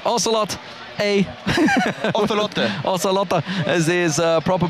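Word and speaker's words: Ocelote: we're technically correct we're technically correct oselot aot oselot is his proper pronunciation there with his scarf on as always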